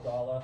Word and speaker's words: Gala: I think there's a Gala or Gala, however you want to say it.